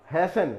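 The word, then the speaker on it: hasten: तो ये हुआ रेसल, हैसन जल्दी करना, यहां पर भी ये टी वर्ड जो है वो साइलेंट होता है।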